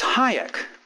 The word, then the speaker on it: Hayek: Hayek and he said it's Hayek like high explosives I've been asked to